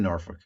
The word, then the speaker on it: Norfolk: So you were actually in Norfolk. Yeah, You don't even say it right. It's Norfolk.